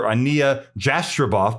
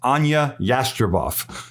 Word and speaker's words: Ania Jastreboff: I thought it might be Dr. Ania Jastreboff, but it's Ania Jastreboff.